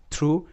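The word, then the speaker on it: through: থাকে যেমন আরো একটা শব্দ আমরা দেখতে পাবো থ্রু টি এইচ আর ও ইউ জি এইচ থ্রু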